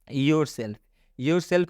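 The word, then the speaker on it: yourself: योर सेल्फ में भी आप देख सकते हैं एफ से पहले एल आया हुआ है और रूल बताया गया कि जब एफ से पहले एल आता है तो एल का उच्चारण नहीं करना है, लेकिन यहाँ पर एल का उच्चारण होगा तो वो भी आधा लॉ से किया जाएगा।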